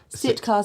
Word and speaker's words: Sitka: Yeah, so it is solid, and I think you pronounce it Sitkita, is that correct? Sitka spruce.